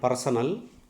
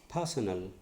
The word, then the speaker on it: personal: It is not personal. R is silent. Personal.